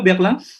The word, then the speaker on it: Berlin: Berlin c'est quoi Berlin? Berlin. Berlin ya, karena kita sudah sepakat kemarin Monsieur, karena I dan N diucapkan bagaimana? Berlin.